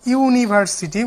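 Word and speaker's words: university: অনুরূপভাবে ইউনিভার্সিটি, এটা হচ্ছে ভাওয়েল বিগিনিং ওয়ার্ড, কিন্তু এখানে কি আছে ইউনিভার্সিটি, উচ্চারণটা ইউ এর মতো হয়েছে, তার কারণে এ হবে।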